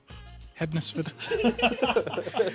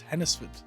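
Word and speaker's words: Hednesford: Hennesford. We got tailed off in the last one because Hennisford is a silent day. So it's Hennisford.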